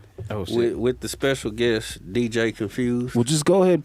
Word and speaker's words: Kunphuzed: DJ Confused with a K, right? Yeah. Right, right. KUNPHUZED.